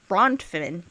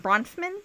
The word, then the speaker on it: Bronfman: brothman brontman brontman senior I don't know how to say it bronfman cuz that f is just sitting right in the middle like that F BR the F needs to walk away the F needs to go f off go f